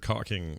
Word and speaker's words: caulking: Right, and it's also that screwy word cocking. It's pronounced, or it's spelled caulking, but no one says that. Caulking. They all say cocking.